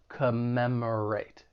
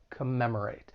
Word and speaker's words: commemorate: When pronouncing this verb, it has 4 syllables. The stress is on that second syllable. Commemorate. Commemorate. And just keep in mind that first and third syllable have that schwa sound, that unstressed vowel sound, which sounds like a.